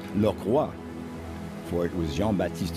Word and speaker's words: Lockroy: dropped anchor before the English base of port lockroy it really should be pronounced laa for it was Jean batist shako who discovered